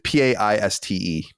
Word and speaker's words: Paiste: And so I never knew actually how to say it. It's Paiste.